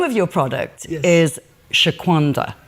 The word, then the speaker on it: Shaquanda: food so the name of your product is Shaquanda right did I pronounce that correctly correct yes so who is